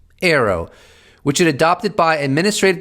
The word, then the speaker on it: AARO: name the all domain anomalies resolution office Arrow pronounced Arrow which it adopted by administrative decision earlier this